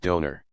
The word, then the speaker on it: Dona: franka d e figle the word Dona is usually pronounced donor dun the expression used